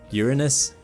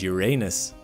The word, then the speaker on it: Uranus: It even has two ways to pronounce it, as no one has been able to definitively agree on the matter. Uranus and Uranus.